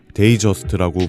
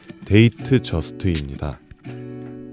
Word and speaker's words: Datejust: 국내에서는 데이저스트라고 부르기도 하지만 정확한 발음은 데이트 저스트입니다.